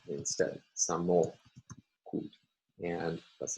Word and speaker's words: samochód: And our last example, the word for car, samochód, has three syllables.